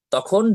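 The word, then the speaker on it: ت: তা অক্ষরটি উচ্চারণ হচ্ছে জিহবার আগা সামনের ওপরের দুই দাঁতের গোড়ার সাথে লাগাইয়া উচ্চারণ হয় তা একদম লাগিয়ে রেখে কিন্তু উবার উচ্চারণ হবে না যখন তা বলবেন তখন ওখান থেকে ছুটে যাবে তখন জিহবার আগাটা ওপরের বড়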